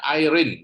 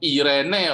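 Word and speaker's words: εἰρήνη: disebut apa sama begitu Salah tulisannya ya bacanya Airin betul Airin tapi tulisannya begitu banyak orang bisa salah Irene orang biasanya salah artinya sama Erin sama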